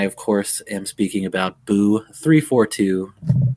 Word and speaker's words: Buu342: I usually go with Buu342 because I just like how that sounds, and the 2 rhymes with boo, and it's just fun to say.